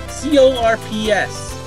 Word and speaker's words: Corps: C-O-R-P-S. Yes, Corps. You're not usually supposed to pronounce the P.